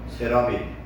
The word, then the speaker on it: 스랍: 이것은 우리 한글로 음역해서 해놓은 것인데, 실상 발음은 스랍은 세라핌, 그 다음에 그룹은 케루빔이라는 단어를 바꿔서 써놓은 거예요.